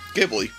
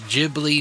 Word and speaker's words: Ghibli: But he also said that we are pronouncing it wrong. He says that it is Ghibli, not Ghibli.